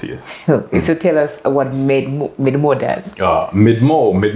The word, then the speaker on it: MedMoo: means we made more it's made more it's like people saying Kampala yeah in the north Kampala yeah okay made more that's that's like the lower pronunciation of it okay yeah what does